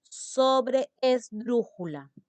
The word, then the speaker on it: sobreesdrújula: En la tras antepenúltima sílaba, se va a llamar sobreesdrújula. Sobreesdrújula. Tiene una doble E.